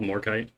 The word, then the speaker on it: Morkite: How's it pronounced? It's not. No, it's just called Morkite.